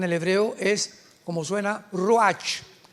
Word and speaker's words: ruach: hebreo es como suena ruach r Raúl u a c h pero la ch en el hebreo se pronuncia como J raj es la palabra para